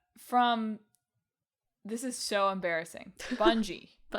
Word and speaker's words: Bungie: Now we can call them Bungie. I simply cannot They bunggeied it. I cannot get my brain to read the name of this company and pronounce it Bungie. My brain goes bungi.